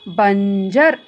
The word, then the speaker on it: बंजर: ब के ऊपर अनुस्वर आया है, तब इसका उच्चारण इस प्रकार बना, बंजर।